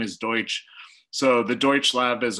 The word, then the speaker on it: Deutsch: The other thing from a media relations standpoint, so my name is Deutsch.